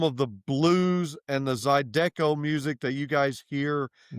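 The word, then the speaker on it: zydeco: So the the cinjun music is it's pronounced Zidico.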